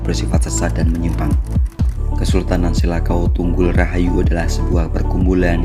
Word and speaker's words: Selakau: Nama Kesultanan Selakau Tunggul Rahayu atau Selakau juga dikenal dengan nama Salakau atau Selako karena kesalahan pengucapan oleh para penutur bahasa non-Sunda.